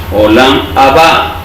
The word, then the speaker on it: Olam Haba: Olam Haba, Haba. Porque está la H, tenemos que pronunciarla como J.